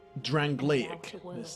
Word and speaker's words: Drangleic: Drangleic. Let's remember how it's pronounced.